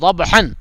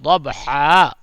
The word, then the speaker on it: ضبحا: جائے گی، ایک زبر اور الف پڑھی جائے گی، جو ہے ضبحن، اصل میں ہے ضبحن، لیکن پڑھیں گے ضبحا، ٹھیک ہے۔ فالموریات قدحا،